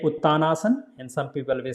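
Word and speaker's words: Uttanasana: Or if you put together Uttaanasana. And second name, how it is pronounced?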